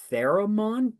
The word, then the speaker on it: theremin: And anyway, she gets out a theremin. Did I pronounce that right?